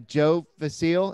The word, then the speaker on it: Joe Vasile: all right we have a special guest uh joe vasile is that how you say it yeah it